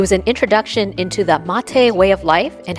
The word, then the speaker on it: mate: Mate, spelled m a t e, but pronounced mate, is the national drink of Argentina and Uruguay.